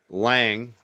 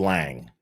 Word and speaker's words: Lange: Will Ang, excuse me, Will Lang. Now, the gallera, he had it right the first time actually. It is pronounced Lang. Um, but it's a common thing because there is an e at the end.